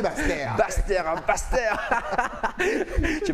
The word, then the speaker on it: Basse-Terre: Il faut dire, faut prononcer Basse-Terre.